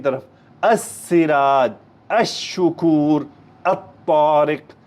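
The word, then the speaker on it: الشكور: शमसी की तरफ अराज अ शुकूर अरिक अ जाहिद असम अहिर अलल अ दबत अ राजिक अस सफर अदवा अ नाजिल अल अ सवाब गौर करें तमाम में लाम साइलेंट आया है यह कहलाते हैं शम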